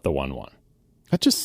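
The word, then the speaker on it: One:1: like we mentioned that it was like the ratio one horsepower to 1 kilogram or whatever uh but the name o e colon numeral one is pronounced one: one it's not one one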